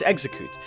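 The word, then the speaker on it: Exeggcute: And that is Exeu Exeicoot, I think, is how you pronounce it. Execut Okay, it's execute.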